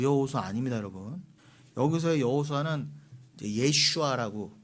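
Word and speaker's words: יֵשׁוּעַ: 여기서의 여호수아는 예슈아라고 그 원어에는 돼 있는데 우리식으로는 여호수아예요.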